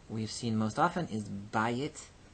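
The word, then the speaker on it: בַּיִת: This aye can only exist as long as it is in an accented syllable. Bayit. When the accent shifts off of the syllable, then it becomes bait. So bayit becomes bait in construct.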